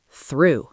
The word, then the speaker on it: through: Third, through. Through. One syllable. Note the silent "ugh".